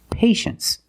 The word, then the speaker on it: patience: Well, you see T-I-E in the second syllable. You know the T is pronounced sh, sh. So this word is patience.